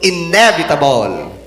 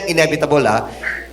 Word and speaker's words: inevitable: is the meaning of inevitable and the pronunciation is hindi inevitable inevitable ang emphasis ay sa first stress first syllable inevitable ba tama inevitable